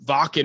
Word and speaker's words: Wacken: And they were playing Wacken or Wacken, however you pronounce it.